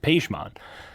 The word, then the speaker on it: Pajman: one, which is like my name now, how it's pronounced by Americans and people here, and how I just kind of like took that as my own is Pajman.